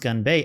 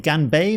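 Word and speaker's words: 干杯: gun by organ BAE I think it's pronounced gan bei and gan bei means dry cup which is interesting dry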